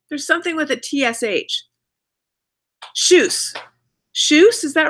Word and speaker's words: Tschüss: Tschüss. Tschüss, is that right? Are you eating some corn, Elliot? Yeah, corn, Elliot. Right now. Yeah. Shush. Right now. I got it right. It's pronounced like shush, right?